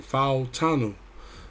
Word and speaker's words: Fautanu: So I actually got to pronounce it. My wife is actually Fautanu. So Fautanu is a 79 right tackle.